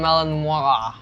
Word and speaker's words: Malinois: They kind of have like a dog, like a Belgian Malinois. Apparently that's how you pronounce it, because they're French or Belgium.